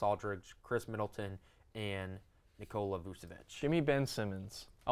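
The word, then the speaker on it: Vučević: Blake Griffin, and Nikola Vucevic, right?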